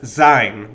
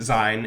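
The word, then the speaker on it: Seyn: for being, sein, as sein with a Y. Sein with a Y is an archaic, old-fashioned spelling of the word, although the pronunciation is identical.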